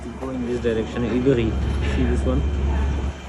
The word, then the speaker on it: Ivry: Ivry. See this one? It's called Ivry, not Ivry. In French, they pronounce R as R.